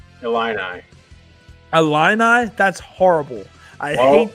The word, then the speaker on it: Illini: How do you say it? Illini.